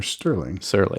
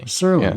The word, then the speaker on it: Serling: Yeah, well, I'm sure Rod Serling, is it pronounced Serling or Sterling? Serling, yeah. No T in there. Yeah, that's right, no T.